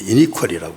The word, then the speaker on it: iniquity: 그래서 죄과는 이제 영어는 거기 transgression은 법을 어겼다는 뜻이고, 죄악 iniquity 근데 iniquity라고 발음하면 돼.